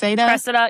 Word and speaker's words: Cressida: Cressida. Yeah. Cressida.